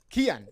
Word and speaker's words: Cian: Is it Cian or Kian? Cian? Kian, yeah. Kian.